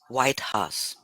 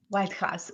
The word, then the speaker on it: Waidhas: you for having me it's pronounced white house white house okay yes but it's